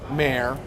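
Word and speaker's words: Mayr: Brent Mayor. M A Y R. Pronounced like the mayor of Houston without the O.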